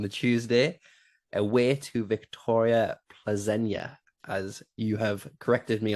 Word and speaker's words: Plzeň: They've got the early kickoff on the Tuesday away to Victoria Plzeň, as you have corrected me on the pronunciation for that.